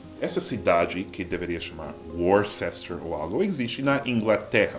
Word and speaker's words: Worcester: Mas ao longo dos anos, os nativos simplificavam a pronúncia. Tiraram o RCE e virou, pelo menos em Massachusetts, a gente fala Worcester.